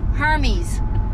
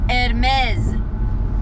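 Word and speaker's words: Hermès: She goes to her friend, my daughter brought me Hermes. I said, Hermes? I was like, what are you trying to say? Do you have herpes? I was like, Hermes? What is Hermes? It's Hermes.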